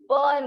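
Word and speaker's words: Berne: बर्न में। यहाँ spelling तो बर्ने है लेकिन प्रोनाउंस कैसे करेंगे? बर्न। और ये कहाँ आता है आपके?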